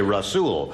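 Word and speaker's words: Rasoul: Rasool. Rasool. It's spelled S-O-U-L, and in my country we Like say Ras- soul for Ras- S-O-U-L. But you say Rasool.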